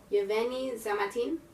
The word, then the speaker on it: Yevgeny: I'm assuming you don't pronounce the G. Yevgeny Zamyatin.